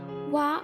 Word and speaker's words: は: Since practically every word in Japanese ends in a vowel, except those few that end in n, wa became the standard pronunciation for the particle.